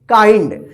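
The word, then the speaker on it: kind: इसको किंड मत पढ़िएगा, किंड गलत हो जाएगा, ठीक है।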